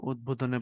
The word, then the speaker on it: উদ্বোধন: তো যেটা ফলা, সেটার উচ্চারণ যেখানে যেখানে বহাল থাকে, যেমন ধরো উদ্বোধনে বহাল থাকে, তারপরে উদ্বাস্তু এখানে বহাল থাকে, তারপরে দিক বিদিকে এখানে বহাল থাকে, তাই না?